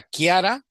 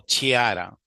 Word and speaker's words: Chiara: A ver, Chara, perdón, tu nombre es Se pronuncia Kiara o Chiara. Le pronuncia Kiara, profe.